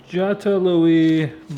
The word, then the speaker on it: Jatiluwih: Jatiluwih, Bali.